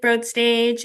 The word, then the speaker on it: Broadstage: I'm the marketing director with Broadstage. It's broad like Toad in case you're wondering about the pronunciation and uh yeah, we're we're really happy to be here.